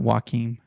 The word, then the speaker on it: Joaquin: It's Joaquin, like Joaquin Phoenix.